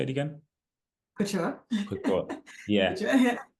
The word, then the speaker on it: couture: Couture.